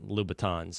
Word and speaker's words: Louboutin: Does makes it any better for you that you're wearing men's Christian Louboutins.